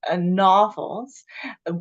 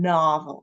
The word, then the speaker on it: novel: uh like to reading novels some of us have been pronouncing it like with the O the long o sound in in American English we pronounce it a a the short o sound novel so just want to